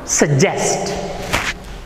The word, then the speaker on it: suggest: And how are these letters pronounced? Same as J. Suggest.